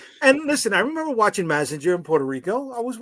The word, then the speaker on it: Mazinger: Well, it may be pronounced like that in Puerto Rican, but in the reality sense, it's Mazinga.